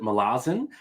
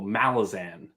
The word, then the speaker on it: Malazan: kept hearing people say melasin so I switched it well for uh for me the emphasis is on the first syllable Malazan yeah that sounds better